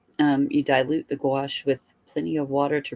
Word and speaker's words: gouache: yeah oh and it's it's pronounced gouache just like gach gouache y'all gouache okay did you